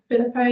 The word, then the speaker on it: Phillippo: Phillippo.